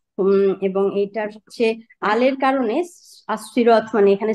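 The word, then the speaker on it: الصراط: হচ্ছে ইসুন মারেফা এবং এটার হচ্ছে আলের কারণে আসসিরত মানে এখানে স আল লা উচ্চারণ হচ্ছে না তাহলে এখানে হুরুফা শামসিয়া হয়েছে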